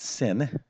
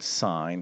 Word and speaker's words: sine: okay so the first one is called we pronounce this not sin okay uh somebody you're like it's a sin to do math no no no this is called sign right and actually we spell out the full